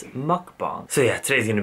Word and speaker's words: mukbang: you guys have been some people are getting so upset that I'm pronouncing mukbong wrong Wow first world problems but I will try my best to remember it's mukbang so yeah today's going